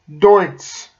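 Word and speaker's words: Deutz: this silly hat um by the way that's pronounced dos it's a German uh um agriculture manufacturer they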